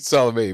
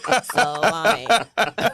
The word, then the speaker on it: Salome: And I wanted to hear him say how it's pronounced. I mean, he said Salome, but I was thinking salmon or so. Salami.